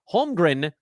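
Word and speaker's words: Holmgren: I can barely pronounce holgren the m is in the middle the N is at the end screw up the hard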